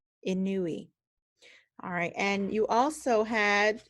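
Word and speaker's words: Inouye: to serve in Congress remember we had trouble pronouncing his name Daniel ken in new e in new e alright and you also had to go to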